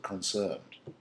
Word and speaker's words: concerned: or concerned, very often the accent would be on the first syllable, concerned.